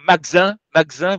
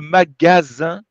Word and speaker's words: magasin: Vous mangez magasin, vous mangez le deuxième A un petit peu. Donc, c'est le magasin.